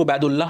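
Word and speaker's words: Ubaidullah: होगा है ना तो आप जिस तरीके से प्रोनाउंस करो उबैदुल्लाह कहो या फिर उबैदुल्ला कहो इनको इनको आप कैसे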